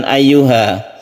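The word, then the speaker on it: أَيُّهَا: Ayyuha, hati-hati di sini ada tasydid ya yang harus kita tekan ke ya-nya. Jadi membacanya itu harus ada penekanan kepada ya apabila kita menemukan tasydid.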